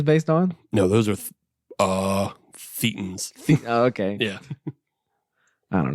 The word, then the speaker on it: thetan: No, those are thetans. Oh, okay. Yeah. I don't know, man. That's not my jam. Thetan rhymes with cretin.